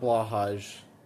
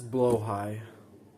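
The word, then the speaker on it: blåhaj: It's not blahage. It's blowh high. That's how you say it in Swedish. It's blowh high. It's not blah.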